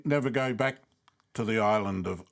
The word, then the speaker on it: Islay: I'll probably never go back to the island of Islay, and one of my viewers, Anthony, has corrected my pronunciation. It should be Isla, but I'm Australian, and I say it how it looks.